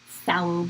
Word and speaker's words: phthalo: And phthalo blue, it's like phthalo blue. I don't think you have to pronounce the P, but it's fun.